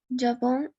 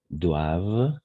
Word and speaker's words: doivent: la personne excellente dans ces sports doivent s'inscrire avant la fin septembre. Exact. Très bien, Camilla. Tu as bien prononcé excellente. Les personnes excellentes dans ces sports doivent, parce que ENT, on ne prononce jamais, doivent s'inscrire avant le fin septembre.